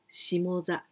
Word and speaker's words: shimoza: But here we pronounce shimo, shimoza.